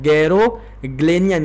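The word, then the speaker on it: Garoghlanian: गैरोग्लेनियन, यहाँ पर यच जो है ये साइलेंट है।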